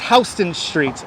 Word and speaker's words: Houston Street: I really do yes it's Houston Street and it's because uh the person who the Dutch person who owned the land in this area his name was Houston even though it's spelled the same as Houston but it was a Dutch man I'm not a pushover